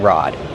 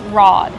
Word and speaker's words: rod: So it has two names, a fishing pole or a fishing rod. Kevin, how do we pronounce rod? Rod. Use the open ah sound like hot and stop.